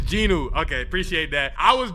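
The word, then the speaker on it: Jinu: Yeah, I said Jin Wu. You can't cap. He looks like Jin Wu. Is it Ginu? I forgot the pronunciation. I'm not going to lie. He Jin Woo for this video. It's Ginu.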